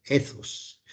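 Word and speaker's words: ἦθος: Bien pronunciado, hay que pronunciar esa TH como si fuera una Z española, ¿cierto? Z. Entonces diríamos ethos.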